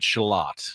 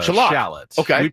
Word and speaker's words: shallot: He pronounces it shelot, not a shallot. In this country, we say shallot shallot, but he says shalot.